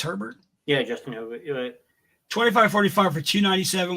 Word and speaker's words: Herbert: Herbert had is how do you say it's Herbert yeah Justin 25.45 for 297 one touchdown one